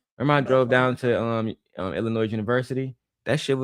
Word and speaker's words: Illinois: Don't Don't add an S on it. Illinois. No, it's just Illinois.